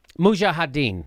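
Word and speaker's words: mujahideen: How do you say it? Mujahedin. Yeah, actually mujahedin. Mujah. Mujahaden.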